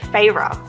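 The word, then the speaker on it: Feyre: is black and gold and says reset and Farrah I pronounced I don't owe the audiobook says her name is Farrah and people say Farrah but I'm like saya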